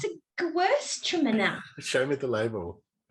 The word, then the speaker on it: Gewürztraminer: Traminer's the end, but it's Gewürztraminer.